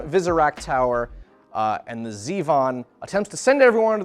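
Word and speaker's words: Zivon: wanting to pronounce it zyvon but it is actually Zevon rudaka unleashes the Zevon because zyvon sounds a lot better it's spelled z-i-v-o-n that looks like it should be pronounced zyvon and I think xyvon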